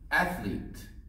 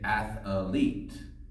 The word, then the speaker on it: athlete: okay number three is athlete with this word people sometimes add a third syllable and say athlete but this word only has two syllables so we say actually